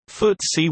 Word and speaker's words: FTSE: FTSE 100 Index, pronounced FTSE 100, was launched by a partnership of the Financial Times and the Stock Exchange on 3 January 1984.